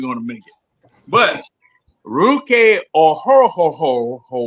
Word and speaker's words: Ruke Orhoro: Our number 2 pick was Ruke Orhoro. Now think of Scooby Doo and just go. Oh. That's basically how you say his name. Ruke Orhoro.